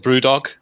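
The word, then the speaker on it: BrewDog: up near Aberdine uh called Brew dog which I like because it rhymes with st dog I was I was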